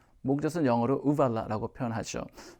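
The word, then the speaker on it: uvula: 자, 그 다음 조금 더 성대에서 올라와서 목젖 발음 유의해 볼까요? 우발라. 목젖은 영어로 우발라라고 표현하죠.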